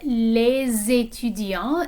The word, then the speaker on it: les étudiants: Okay, of course we have les étudiants, and notice that the S in les is pronounced when it's joined onto this word that begins with a vowel, étudiant.